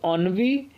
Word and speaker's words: ennui: Pronunciation बहुत ध्यान से देखिएगा, इसका प्रोनाउंसिएशन होगा ऑनवी। सो ऑनवी इज़ अ नाउन, ऑनवी नाउन होता है, एंड it's meaning is mental boredom.